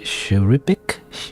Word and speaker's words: cherubic: Cherubic? Yeah, like a cherub, right?